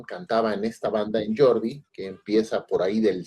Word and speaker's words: Geordie: Este, esta es una banda se llama Jordi Geordie se escribe, que pues es una